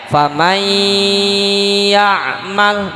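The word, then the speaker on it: فمن يعمل: Bighunnah disertai dengan ghunnah tulisannya faman ya'mal nun mati ketemu ya dibacanya famai ya Ma Gimana Mama ih Nah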